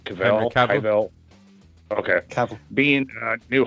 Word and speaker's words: Cavill: I always say his name wrong. Henry Cavill? Cavill.